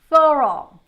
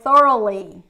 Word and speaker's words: thorough: get it started so the first one is thorough thoral thoral thoral when you say you're doing something like thoroughly or in a thorough way in a very